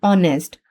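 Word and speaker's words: honest: नील या नी में नील में के जो है वह प्रोनाउंस नहीं होता। एच इन ऑनेस्ट जैसे ऑनेस्ट में एच जो है वो प्रोनाउंस नहीं होता।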